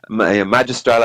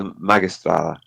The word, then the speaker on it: magistrala: in English I suppose in my head magistral as opposed to magistrala yeah you were saying it would be more like mag magistrala would be how you pronounce and when I when